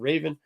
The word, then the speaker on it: Raven: talking about Trigon because I already mispronounced her name and called her Revan instead of Raven uh but Raven has